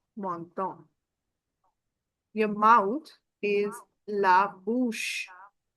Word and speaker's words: menton: This is O N sound. And this is also O N sound, menton.